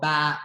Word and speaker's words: ba: We call ba. But number 3 is spelled ba in Vietnamese. It sounds like I'm a sheep.